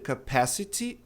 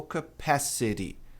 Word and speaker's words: capacity: O T está ladeado por som de vogal, ele não está numa sílaba tônica. A tônica é o PA aqui. Portanto, eu posso ou dizer capacity ou capacity. Você escolhe. Está difícil falar capacity por enquanto? Fale capacity. As duas maneiras estão corretas.